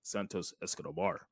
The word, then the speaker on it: Santos Escobar: you gotta say it right bro you gotta Santos Escobar escar I love the way Caro says that